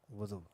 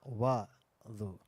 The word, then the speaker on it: wudu: the basic necessities of wudu. And it's pronounced as wudu, not wadu.